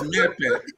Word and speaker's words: Mepe: You don't even know how to pronounce her name. It's Mepe.